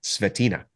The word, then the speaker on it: Svetina: having me Dominic yes I'm pretty sure I mispronounced your name it's stina yes that's correct I knew I was